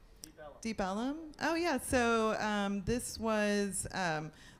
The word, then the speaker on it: Ellum: This was a freedman's town, and actually the name was based on Elm Street, but it was pronounced due to a dialect was Ellum.